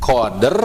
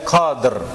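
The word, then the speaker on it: قدر: Q qadr atau qadr gini ya coba ee qader ya atau eh qadr ada ada e-nya enggak Bu di situ ada. Hm. Tidak ada. Nah, ya. Jadi jangan ee seperti ada e tapi itu pantulan daripada huruf dalnya itu, Bu, ya.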